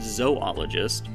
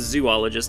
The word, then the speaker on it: zoologist: Dana was an American geologist mineralogist volcanologist and zoologist and yes that's how that's pronounced if it was zoologist it would have three together became professor of